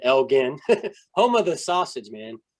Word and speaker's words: Elgin: It looks like Elgin, but for some reason they pronounce it Elgin.